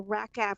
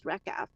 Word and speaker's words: RACF: I'm gonna stop uh regarding the racka which is racf we pronounce this is reca that is what Singin says it right to the heart